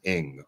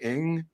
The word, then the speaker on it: Ng: And we had a woman who was the assistant GM at the Dodgers named Kim Ng. It's spelled NG. I think it's pronounced Ng, right?